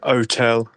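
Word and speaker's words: hôtel: east of London and couldn't pronounce the h in otel uh and that sort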